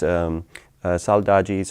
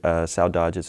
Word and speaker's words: saudades: and after a while I started hearing sow, like a pig, and then dodges, and then that actually,